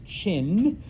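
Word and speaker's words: Qing: Um the Manchu uh come from Manuria and that is the I know it's spelled q i n g but it's pronounced chin.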